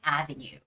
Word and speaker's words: avenue: the words like Turnpike Avenue. Okay, the word avenue might be a little familiar, a little bit more familiar than the other ones. Avenue, it has the first vowel stress, right? First syllable stress.